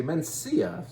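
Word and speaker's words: Mencía: It's spelled slightly differently, but the region is Monterey, and the grape variety is Mencia. And if you don't want to say it with a lisp, you can say Mencia.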